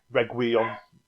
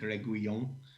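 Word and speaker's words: Reguilón: me on the pronunciation, Reguilon. Well, it's as good as I've got, I think, Reguilon. He's got the double L, so that's normally a Y sound.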